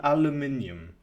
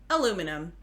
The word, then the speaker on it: aluminium: diff difficult like an aluminium where's the neon like what what are we doing spelled the british way aluminium i pronounce it thus aluminum there really is only